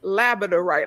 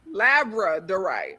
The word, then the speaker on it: labradorite: I've been saying it as labraidorite like a labrador. Labradorite. Like a labrador retriever. Labradorite. I say labidorite, but the R comes first. It's labra. Labradorite.